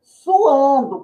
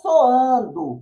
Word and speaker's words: suando: calor poderá dizer que está suando com u Lembrando que já falamos em vídeos anteriores A respeito aí a respeito do verbo no é sua' e solar e não soando pois quem só é